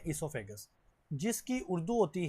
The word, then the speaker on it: oesophagus: मैंने कल भी आपको बताया था यहां पे जो ओ है ना इसको साइलेंट पढ़ना है। ई से स्टार्ट करना है इससोफेगस।